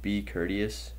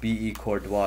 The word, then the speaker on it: Courtois: know a guy named be courteous it says i'm supposed to pick him up here it's pronounced be courtois you uncultured swine hey